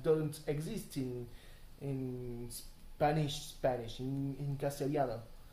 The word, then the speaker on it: Castellano: And in Latin American Spanish, they pronounce it like pretty much a J. If I were to say Castellano with pronouncing it as if I were Latin American, it would probably sound something like Castellano, you know.